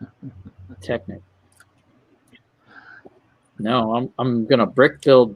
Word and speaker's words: Technic: It's pronounced Technic, Jesse. Technic.